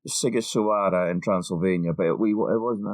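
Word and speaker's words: Sighișoara: Seems I'm not sure if the GH is Sigi or Sigiswara in Transylvania, but it wasn't actually Transylvania at the time, I don't think.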